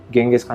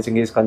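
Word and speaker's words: Genghis Khan: तो अगर इसकी कभी डिटेल समझनी हो ना, तो कभी यूट्यूब पे चंगेज़ खान की जर्नी देखना, कि गेंगिस खान या चंगेज़ खान जैसे भी आप प्रोनाउंस करना चाहो, तो उसकी बहुत इंपॉर्टेंट जर्नी है।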